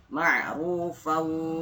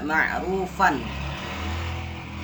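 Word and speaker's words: معروفا: Jadi tidak dibaca ma'rufan. Ma'rufan kan kita tahunya selama ini kalau fathah tain itu dibacanya an, kalau kasroh tain dibacanya in, kalau dhammah tain dibacanya un. Nah, benar, tapi kalau dia ketemu sama wa mati dia dibacanya ma'rufau. Jadi fa-nya hilang.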